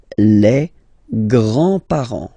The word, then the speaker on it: grands-parents: Les grands-parents. Remember, you don't pronounce this final S here. Grands-parents, okay?